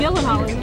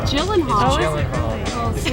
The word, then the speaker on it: Gyllenhaal: Mr Gyllenhaal and yes that is how you pronounce his name you want me to say it for you so you know it jillen hall jillen jillen Hall everyone it's jillen Hall before I get to